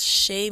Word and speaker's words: Xhae: That's Shay Music, and it's spelled XHAEMUSIC.